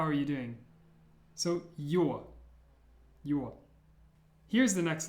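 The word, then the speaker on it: С: It's pronounced S. S. Now, I know it looks like a C, but imagine that it's like the C in sincere, and it's pronounced with a S sound.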